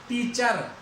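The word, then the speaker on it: teacher: जैसे मैं यहां पे लिखता हूं, आगे अंत में आर, टीचर, चर, चर नहीं है वो, टीचर, ए पे रुक जाएगा, टीचर। तो यहां पे आर का उच्चारण नहीं होगा, अंत में आया हुआ है।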